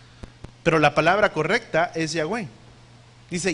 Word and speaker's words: Yahweh: Pero la palabra correcta es Yahweh.